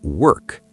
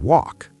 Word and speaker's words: work: You said work. People often confuse work and walk. Work. The sound is in the throat. Work. Like a bird chirping. Work. Walk. The sound is more open. Walk. Like door. Walk.